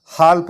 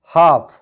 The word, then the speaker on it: half: इस वर्ड को हम हाल्फ नहीं पढ़ते हैं, इसको पढ़ते हैं हम हाफ, क्योंकि ए के बाद